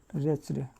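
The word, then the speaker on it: wretched: इसको क्या पढ़ोगे, देखो यहाँ पर इसको क्या पढ़ोगे, रिच्ड, हमेशा रिच्ड, रिच्ड पढ़ोगे, रिच्ड। तो ये इसको आप लिंक कर लो रिच से, रिच्ड, ठीक है।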